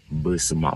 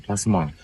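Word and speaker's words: Besemah: Kalau dinamakan Besma, bukan Pasma. Kalau Pasma itu lain lagi gitu.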